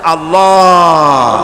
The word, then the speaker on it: আল্লাহ: পাকের নাম উদাহরণ হচ্ছে আল্লাহ মুখটা একটু গোল হয়ে যাবে বলেন আল্লাহ আল্লাহ পৃথিবীতে বিভিন্ন জাতি